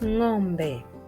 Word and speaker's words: ng'ombe: The equivalent of this sound within the English language will be found at the tail end of the word sing. Sing. And the Swahili word to show us how the sound is pronounced is ng'ombe. Ng'ombe, meaning cow.